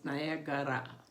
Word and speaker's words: Niagara: And he had told me that Niagara Falls in Native American way is pronounced as Nayakara Falls of the heavy fall of water, Nayakara.